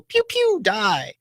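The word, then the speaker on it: PewDiePie: like the YouTube channel, pew, pew, die. Yeah, you have to say it like that too. It's pew, pew, like a laser beam, pew, pew, and then die.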